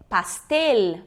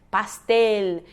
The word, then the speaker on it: pastel: eu tenho a palavra pastel para a pele eu não posso fazer no final da palavra esse som que a gente faz um som de u Castell Coronel Manoel não é Manuela né pastel tem que pronunciar bsl